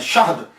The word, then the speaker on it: शहद: Pronunciation चल पड़ा, लेकिन असल इसका प्रोनाउंसिएशन जो है ना ये शहद है। हनी जिसे कहते हैं, शीन के ऊपर जबर है, हा जो है वो साकिन है, शहद।